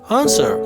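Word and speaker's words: answer: आंसर यानी जवाब देना, यहाँ पर डब्ल्यू जो है ये साइलेंट है।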